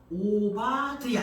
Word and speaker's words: 오바디아: 여호와를 경배하는 자 그리고 오바의 그 히브리식 발음은 오바디아 있니다 오바디아 본문을 기록한 오바디아